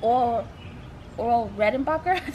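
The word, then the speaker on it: Orville Redenbacher: This is really cool because a friend of mine took some popcorn that she got from the Oral Redenbacher. That's how you pronounce it.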